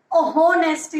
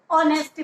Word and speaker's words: honesty: तो यहाँ पर देखिए बेटा, सेकेंड यूज बताया गया है, द एच इन ऑनेस्टी एंड आवर is silent. देखिए ऑनेस्टी वर्ड होता है HONESTY। आप होनेस्टी नहीं पढ़ते हो, ऑनेस्टी पढ़ते हो।